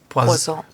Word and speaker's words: Poison: But it's pronounced Poison.